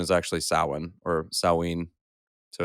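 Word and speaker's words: Samhain: and they have to do with Salin spelled Sam Hayne many people will say sam Hayne but the pronunciation is actually sauwin or saline so it's one of those two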